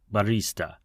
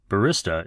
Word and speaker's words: barista: As for pronunciation, we're both right. Barista is a common pronunciation in the United States and Italy, although the Italian pronunciation drags the e sound in the middle. Barista. Barista is the more common usage in the UK and Western Europe when speaking English.